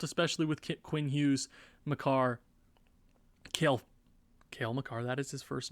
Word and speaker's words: Cale Makar: Norris is going to be a little difficult, especially with Quinn Hughes, Makar, Cale Makar, that is his first name.